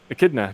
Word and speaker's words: Echidna: Echidna. Didn't even know that was how you pronounced it.